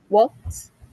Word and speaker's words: walked: Now, I hear the T at the end.